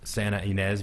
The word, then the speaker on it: Santa Ynez: day off to go up to, I'll probably pronounce most of your towns wrong, but the Santa Ynez Valley.